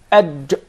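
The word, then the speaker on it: ج: There is no gim in Arabic. It is adj. Adj. Adj. It seems like it comes from the middle of the mouth. Adj.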